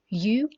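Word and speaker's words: ewe: female we have you this word is pronounced as you same as Y o you and then the baby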